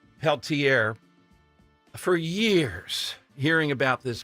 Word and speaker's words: Peltier: that the left Leonard and I believe it's pronounced Peltier for years hearing about this guy killed two